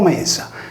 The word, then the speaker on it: Media: Nella mitologia Medea, in origine scritto Media pronunciato Mesa, era in parte dea della terra e in parte dea della luna.